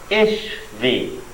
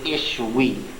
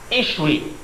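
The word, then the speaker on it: ישוי: Pronouncing this as a V is the product of Jews being in Germany for too long. Where the soft sounds, what happens to soft sounds in German? They harden, so that the W's in Hebrew came to be pronounced as V's in the Middle Ages.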